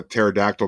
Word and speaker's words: pterodactyl: Well, that's like what, why can't you hear it when a pterodactyl goes to the bathroom? Because the P is silent.